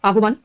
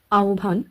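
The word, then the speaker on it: আহ্বান: এটার উচ্চারণ কি হবে আহবান তৃতীয়টি যদি দেখি গ হ বয় র গহবর তাইতো কিন্তু না এগুলির উচ্চারণ একটু অন্যরকম হবে এখানে সঠিক উচ্চারণটি হয়ে যাবে জিউভা আওভান এবং গ ভর কোন পদ্ধতিতে এই শব্দগুলির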